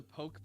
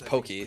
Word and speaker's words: poke: There's a poke place by me that has. I think it's Pokey, pronounced not Poke.